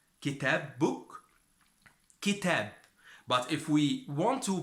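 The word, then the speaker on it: كتاب: If we have 2 words, we have, for example, like kitab, book, kitab. But if we want to pronounce the Kaaf, it is qalb, heart.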